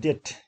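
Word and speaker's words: debt: So here, so your bo, a b is silent, det, we pronounce it det.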